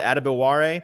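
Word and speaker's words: Adebawore: the actual pronunciation guide is it adamaware I believe so I can tell you for sure it is so uh ADI tamiwa put up a four five flat 40.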